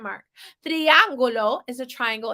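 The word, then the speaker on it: triángulo: has an accent mark triangulo is a triangle it almost sounds like it has the word tree at the beginning because that I sounds like a long e tree triangulo triangulo it's a triangle cuadrado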